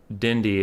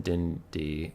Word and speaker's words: Dindy: It's pronounced Dindy as in Dindy, and Grin is pronounced with an sound. Grun.